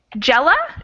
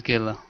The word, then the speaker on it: Gala: right and let's see jella jella i'm sure i'm pronouncing that wrong hello my name is gala gala okay welcome to class